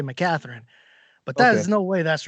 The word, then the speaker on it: McCaghren: we say we say make a Tharin and my family says they turn the G into a T we say my Katherine but there's no way